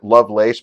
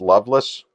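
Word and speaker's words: Lovelace: Loveless movie it looks her name looks like love lace but it's pronounced Loveless hang on movie that's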